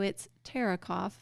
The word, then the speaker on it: Theuerkauf: So it's Theuerkauf, but it doesn't really look like it's spelled like that.